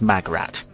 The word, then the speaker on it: Magrat: shows up later and no i didn't pronounce that it is magrat uh because a mum couldn't spell margaret hello dear tired oh